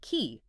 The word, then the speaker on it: qi: Ki, pronouncedqi is the fundamental life force, the vital energy that animates everything, individuals, society, nature itself.